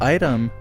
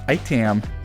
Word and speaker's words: ITEM: Commonly pronounced item, straight kids pronounce it in a goofier manner, speaking it as itam.